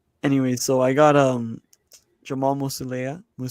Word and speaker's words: Musiala: Anyway, so I got Jamal Musiala. How do you say his name again? Musiala.